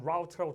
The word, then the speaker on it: route: 이래서 사인 포스트, route to food, route 또는 route라고 둘 다 발음 가능합니다. 저 단어는 음식으로 가는 길을 안내하기 위해서 그 화합물을 방출하는 채로 됐어요?